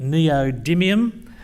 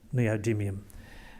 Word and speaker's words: neodymium: This is our main mineral commodity, neodymium, and we'd like you all to learn how to pronounce that name.